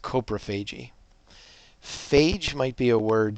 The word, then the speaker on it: coprophagy: It's pronounced coprophagy.